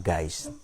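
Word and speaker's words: Geist: oleh ada yang Hakiki namanya gais atau tulisannya ya baca bacanya dalam bahasa Jerman guys oleh roh itu Hai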